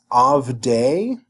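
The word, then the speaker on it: עַבְדֵי: So next we've got avdei. We know that the dagesh here, the shavah here is silent because it's preceded by a short vowel.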